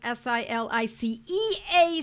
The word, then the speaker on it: silicea: Now let's talk about silica. Silica, S-I-L-I-C-A, or sometimes it's spelled S-I-L-I-C-E-A, silicea, because it's English or it's Latin, and we interchange them.